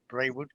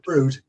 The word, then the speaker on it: Brewood: Is that pronounced right? Brewood? No, Brood.